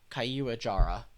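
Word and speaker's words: Caiuajara: Kayuahara. I finally learned how to say it from the thing up there. If you press it. Kayuajara. I feel like I'm used to kind of pronouncing it as har.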